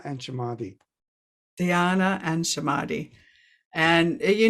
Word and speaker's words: Samadhi: Dhyana and Samadhi.